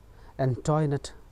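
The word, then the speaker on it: Antoinette: Question number 4 था ये French name है, एंटोइनेट पढ़ते हैं इसे, इसका प्रोनाउंसिएशन है एंटोइनेट।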